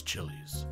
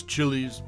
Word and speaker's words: Chiles: the comments below Lois Chili's distinguished by her resident name pronounced like files with a CH has left an indelible